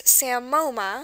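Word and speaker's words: psammoma: of Greek Parts okay so what are we looking at in this word we have that silent P remember the S sound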